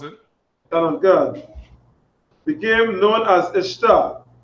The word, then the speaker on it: Ishtar: God, became known as Ishtar, which is pronounced Easter, and her moon egg became known as Ishtar's egg.